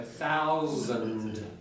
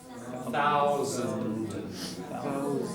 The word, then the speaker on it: thousand: The d at the end. So thousand. Thousand. So don't swallow the ending.